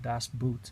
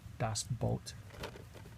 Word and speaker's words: Das Boot: lot of people mispronounce it and call it Das Boots but it's actually pronounced dos Bolt good film I enjoy it is a Beowulf